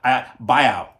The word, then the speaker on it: Biao: So Biao, it should be Biao, Yuen Biao.